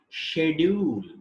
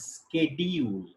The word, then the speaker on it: schedule: We say schedule in British English, and the same word is pronounced as schedule in American English.